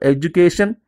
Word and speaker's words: education: Okay, example, education, vacation, preparation. So divide the words into syllables first of all. A, ju, k, shen. So last second is k. So on c we have to put the stress mark.